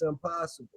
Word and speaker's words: ImPossible: So there's this word most people pronounce it impossible but the word actually says I'm possible and um it's it's two meanings.